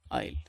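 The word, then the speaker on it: I'll: எப்படி உச்சரிக்கணும்? ஐல்.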